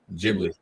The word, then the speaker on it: Ghibli: I keep pronouncing their name wrong. Studio Ghibli. Is it Ghibli or Ghibli?